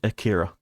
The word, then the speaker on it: Akira: You gotta emphasize the first part.